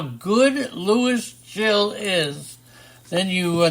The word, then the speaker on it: Gil: How do you say Gil? Jill. Is it Jill? Jill.